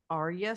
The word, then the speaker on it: Arya: Neither is Arya Stark. Is that how you say it? Oh yeah, no, yeah, Arya Stark.